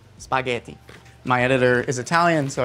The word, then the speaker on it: spaghetti: That's the Italian for spaghetti, by the way. It's spaghetti, but note the pronunciation, spaghetti.